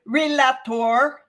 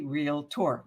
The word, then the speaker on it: realtor: pronounce realtor is it relator or is it realtor it's actually real tour there is no a between the L and the T just a note so